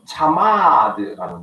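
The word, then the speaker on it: חמד: 은총이란 말이 무엇이냐 하면 히브리어로 하마드라는 말, 하마드라는 말인데 이 말의 앞에 있는 하라는 이 말은 후두음입니다.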